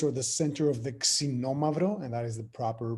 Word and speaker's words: Xinomavro: A lot of people know Nausa as the birthplace or the center of the Xinomavro, and that is the proper pronunciation, by the way. A lot of people say Xinomavro.